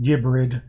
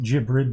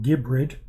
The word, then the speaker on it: Gibrid: I think I'm going to pronounce it Gibrid. Some people might think Gibrid, but no, Gibrid. Gibrid. If you think the G should be soft, well, offer that as a gift for your girlfriend.